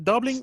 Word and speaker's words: Dublin: Se puede decir Dublin o Dublin. Cualquiera de los dos está bien.